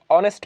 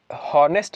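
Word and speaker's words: honest: एन ऑनेस्ट मैन, इसको हॉनेस्ट नहीं पढ़ते, हॉनेस्ट गलत है, एन ऑनेस्ट मैन।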